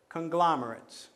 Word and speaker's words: conglomerate: So for example, conglomerate. Conglomerate has 4 syllables. You start at the last and you count back 2, and that's where the stress would fall.